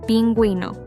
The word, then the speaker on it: pingüino: If we want to pronounce the U when it appears between G and E or G and I, we add the dieresis above the U. For example, vergüenza, shame, pingüino, penguin.